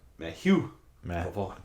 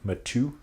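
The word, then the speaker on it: Matthieu: yeah Matthew pavon okay I like to say Matthew cuz that's not how you spell it however you spell m a t t h i e u no h he's French it's okay meu matu matu maybe Matthew yeah sounds better all right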